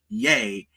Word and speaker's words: Ye: all my name is yay it's pronounced in parentheses y a y like Yay like yay for me wait the parenthesis is